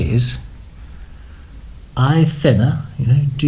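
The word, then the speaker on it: hay: what you can say is I thinner you know do you do dinner I then and it's spelled hey but it's pronounced how English people say the word I you know your height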